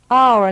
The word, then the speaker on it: hour: Hour начинается с H. An hour читается как A. Hour.